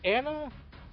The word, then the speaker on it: Anna: So, uh, Anna is or an depending on how you want to say her name. I've heard it said both ways, and either way is technically correct.